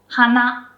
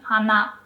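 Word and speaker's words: 花: as a kid so both nose and flower on its own it's pronounced exactly the same okay hana Hana hana.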